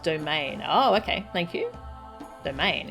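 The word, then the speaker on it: Doman: The minister's pronounced domain.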